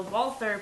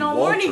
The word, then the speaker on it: Walther: to be reviewing the Walther P22. You said it right. I did say it right. Sorry, it's been Walter most of the weekend. This is the Walther P22.